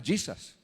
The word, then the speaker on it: Jesus: Por ejemplo, se escribe Jesús, pero no se dice Jesús en inglés. ¿Cómo se lee? Se le da el sonido de Y, que era su sonido original. Se llama Jesus.